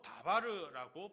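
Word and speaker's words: דבר: 히브리어 언어로 다바르라고 발음하는데요.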